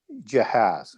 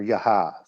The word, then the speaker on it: Jahaz: And Israel fights them at Jahaz or Yahav, depending on how you want to pronounce that.